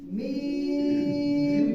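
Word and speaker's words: ميم: খেয়াল করেন এই অক্ষরটা দুই ঠোঁট হতে উচ্চারণ হবে মিম মিম, একটু টাইনে বলতে হবে, ঠিক আছে?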